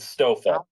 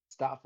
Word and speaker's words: Stafa: I pronounce it well Gibby said stoa stoa and what do you think Stafa Stafa is correct nice I said sta